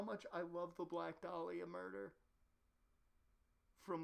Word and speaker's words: Dahlia: and i couldn't even i didn't even read her name as dolly dahlia dear lord i can't even say it correctly because i just want to say delilah but nope yep for the meme it's delilah for the meme for the stream for us it's delilah stop right there what